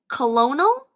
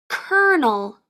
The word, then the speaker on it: colonel: English did you say Colonial if you did don't feel bad this is a word that is pronounced differently than how it's spelled it's pronounced kernel a kernel according to